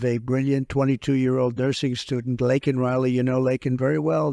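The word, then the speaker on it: Laken Riley: months of prodding him Biden couldn't pronounce her name he said he said Lincoln Lincoln Riley and Lincoln Riley is the football coach coach and uh this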